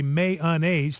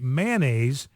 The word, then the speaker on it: mayonnaise: see and it's got a map showing where people say may unas three syllables and where they say mayonnaise with just two uh syllables now you got the